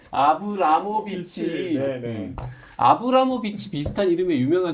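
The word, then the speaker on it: Abramović: 마리나 아브로모비치. 발음도 안 돼. 마리나 아브로모비치. 발음이 안 돼. 아브라모비치.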